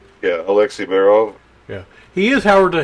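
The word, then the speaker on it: Alexei Barov: Yeah, Alexei Baerov.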